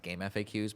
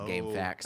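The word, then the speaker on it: GameFAQs: supposed to be pronounced game FAQs but I would just say game facts absolutely it makes it makes sense when you realize what FAQ stands for right I just said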